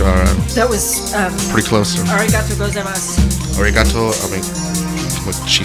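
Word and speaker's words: ありがとうございます: arigatou gozaimasu.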